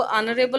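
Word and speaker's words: honourable: उसी प्रकार से our principal is ऑनरेबल person, तो ऑनरेबल, ये ऑनरेबल बोला जा रहा है, इसका ध्यान रखना, जो प्रोनाउंसिएशन होता है वो ऑनरेबल होता है।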